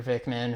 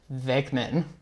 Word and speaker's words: Venkman: So, and then you got, Peter Venkman, who is... Venkman. I said his name wrong?